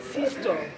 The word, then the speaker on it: Sjöström: En Amérique, on l'appelait Sistor. En Amérique. Moi, je voudrais retrouver la prononciation suédoise.